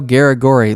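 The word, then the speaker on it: Garagorri: Yeah, Eduardo Garagori. Look at that. He lost 4 fights in a row to tough competition, but then he revived his career against Garagori, who he handed Garagori, I think, was that his second loss.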